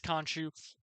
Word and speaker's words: Khonshu: I think I pronounced that like 12 different ways, but it is Khonshu.